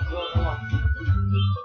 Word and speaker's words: Klonoa: I'm telling you, it's the best version of Klonoa.